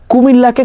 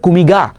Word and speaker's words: কুমিল্লা: ও কুমিল্লাকে সবসময় কোনো সময় কুমিল্লা বলতে পারতো না, ও বলতো যে কুমিগা, বুঝতে পারছো?